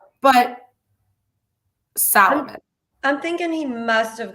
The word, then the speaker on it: Solomon: How do you not know how to say Solomon? But I mean, it's not like he's mispronouncing, like he's adding in a letter that's not even there. Salomon. Like there's no A anywhere in his last name.